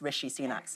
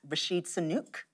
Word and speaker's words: Rishi Sunak: And you would think he'd pronounced Rishi Sunak's name right, because the first time around, he said it was Rashid Sunuk.